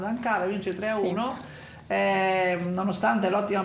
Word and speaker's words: Ankara: Diciamo che la Lube fa un bellissimo risultato in Turchia, ad Ankara, avevamo detto, mi pare che avevo controllato l'accento sulla seconda, ad Ankara, vince 3-1, sì.